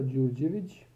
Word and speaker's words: Đurđević: This is pronounced as J, so this is D with a diacritical sign slash. Did I say slash, not dash? Here, and it's pronounced as G, like buongiorno, as in buongiorno.